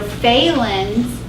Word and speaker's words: Phalen's: So Phalen's is flexion, compression of the nerve. It would work better if they spelled it with an F, but they spell it with a P, so I'm sorry.